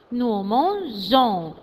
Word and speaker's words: mangeons: Alors, en ce cas-là, on met la lettre E. E-O-N-S. Nous mangeons. Nous mangeons.